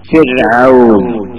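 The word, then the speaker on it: فرعون: സാധിക്കും ഒന്നുകൂടി കൂട്ടത്തിൽ ഉണർത്തുക അപ്പൊ റിജാൽ റിജാൽ ഫിർഔൻ ഫിർഔൻ അങ്ങനെയാണ് ശബ്ദം ഉണ്ടാവേണ്ടത് അല്ലാതെ റിജാൽ റിജാൽ നാവ് കൊണ്ട് നീട്ടിയിട്ട് റിജാൽ ഈ അവസ്ഥയല്ല നാവിന്റെ തല നേരെ നീട്ടിയിട്ട് തന്നെ ആയിരിക്കണം തർക്കീഖ് ആക്കുമ്പോഴും ഉച്ചരിക്കേണ്ടത് എന്ന് പറയാം അപ്പൊ അത് മനസ്സിലായിട്ടുണ്ടാവും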